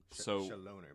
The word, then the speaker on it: Chaloner: No, it's Chaloner. Chaloner. Shatner. Chaloner. Yeah, that's what I was going to say. Yeah. It's like French. Well, he's English. Oh, Chaloner, but it's...